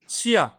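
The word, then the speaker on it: chien: শিয়া, এরকম টাইপের আরো অনেক কিছুই পাবেন, যে আই ই এন এর উচ্চারণ হচ্ছে ইয়া টাইপের হবে।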